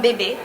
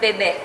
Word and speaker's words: Bebe: Okay, so is a particular store that It's from Bebe. From Bebe. All right, and that is in fact how you pronounce that store from here on out.